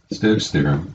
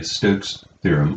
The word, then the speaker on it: Stokes' theorem: Let's verify Stokes' theorem, and there's two ways to properly pronounce this. They're both correct. You may either say Stokes' theorem or Stokes' theorem. It seems that both are valid ways of pronouncing this theorem.